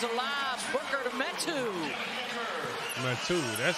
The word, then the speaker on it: Metu: Metu, that's how you say it.